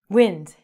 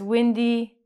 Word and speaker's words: wind: You know this as wind. So you go outside and it's windy and it's air.